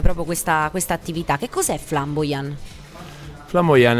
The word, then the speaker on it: Flambojan: Oggi vi parleremo di Flamboyant SRL, detto giusto? Corretta, sì, la pronuncia?